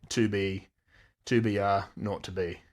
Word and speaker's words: 2BR02B: 2BR02B. And he makes a point of saying the 0 and the telephone number he pronounced was naught.